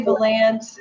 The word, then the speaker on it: Vollant: I say Vollant. My husband's got a couple brothers that say Vollant, but we answered anything.